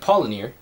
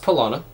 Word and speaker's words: Paulaner: And Paulaner, even though it looks like Paulaner, is pronounced Paulaner.